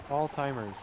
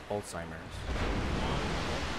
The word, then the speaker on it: Alzheimer's: him one two allheim alltimers I think I'm saying it wrong you are Alzheimer's Alzheimer's Alzheimer I have